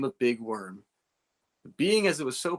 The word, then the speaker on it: Wirm: yeah no it's yeah it's misspelled on purpose and um and I make people misspell it and I make people uh call me worm yeah it's a great